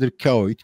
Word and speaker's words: Dirk Kuyt: Bu Dirk Kuyt nasıl telaffuz ediliyor söyler misiniz diye söylüyorlar. Hepsi Dirk Kuyt, Kuyt işte o aksanlı şekilde.